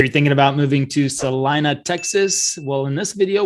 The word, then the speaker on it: Celina: yang of celina texas and it is celina not selena and if you're a real estate agent you should say it correctly as well all right so i